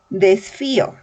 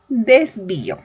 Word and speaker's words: desvío: Si por ejemplo yo digo desfío, es incorrecto. Lo correcto sería decir desvío.